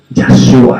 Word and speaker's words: Yahshua: Yo digo Yahshua, así lo llamaba su madre. Yahshua, así lo pronunciaban.